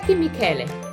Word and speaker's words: Michele: like in chiami c-h-e is pronounced que la michele next question will be